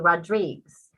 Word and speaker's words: Rodriguez: assume i'm spanish because my last name is rodriguez which if you pronounce it in portuguese it's actually rodriguez so i think for